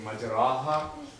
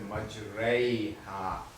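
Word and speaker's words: مجريها: So instead of saying majraha, although it's written like this, but we pronounce it as majraiha, complete imala.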